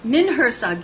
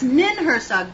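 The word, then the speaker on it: Ninhursag: Nin Hersag, yes, that's exactly what I'm talking about, okay? Yep. See what language does? Right. Getting by the New England accent. Or how you say it. Yes, Nin Hersag, that's right.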